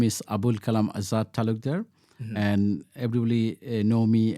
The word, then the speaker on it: Azad Talukder: Today, we focus on Limerick-based Councillor Azad Talukder from Bangladesh. I believe I pronounced your name very well.